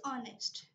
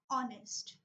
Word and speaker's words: honest: from the letter H the H is silent in English also for example the word is honest right so we can't pronounce the sound of the letter H we say honest right okay so next